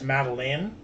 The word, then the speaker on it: Madilyn: Hers is spelled Madilyn, and it's Madeline.